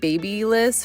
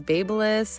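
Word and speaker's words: BaByliss: Also, I pronounced this babyless forever and then I heard it was Babelless. I don't know. But either way, that's the brand of the curling iron. I don't know if I'll ever pronounce it right, but I think it's Babelless.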